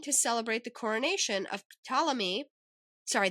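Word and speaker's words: Ptolemy: celebrate the coronation of Talamy. Sorry, there's a P there and I keep wanting to say it, but it's just the P is silent.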